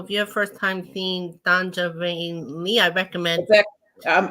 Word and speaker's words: Sonja: I know the J throws everybody off, but it's Sonja with a J. Sonja. Sonja. Think of it as a Y. It's not spelled with a Y, but it's spelled with the J.